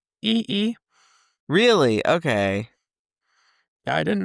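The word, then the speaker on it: Yi Yi: Also, how do you pronounce that one that you were just talking about? E-E.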